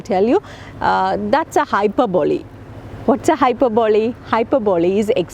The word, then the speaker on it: hyperbole: is an exaggeration hyperbole it is to be pronounced hyperbole okay not hyperbola or hyperbole it is different hyperbole with an e l e okay it's a figure